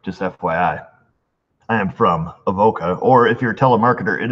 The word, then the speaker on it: Avoca: Boca New York just FYI I am from Avoca or if you're telemarketer it is pronounced abaca let's see here and this is from Ozzie Bob and he writes hey there Eric Oh mrs.